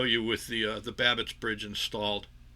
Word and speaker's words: Babicz: It's pronounced Babbitts.